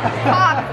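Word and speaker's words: caulk: It's pronounced. Cock, the substance you use on a crack.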